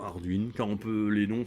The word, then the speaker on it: Ardwen: On a préféré Arduenne, mais en disant Arduine, car on peut, les noms, c'est comme tout, hein.